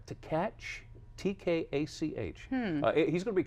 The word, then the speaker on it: Tkach: Tkach, T-K-A-C-H.